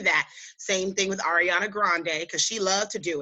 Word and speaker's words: Grande: When that 7 Rings came out, Ariana Grande, because she's white. She's not. Oh yeah, Grande. Excuse me, it's not the Grande like the coffee. So people have been saying her name wrong for years.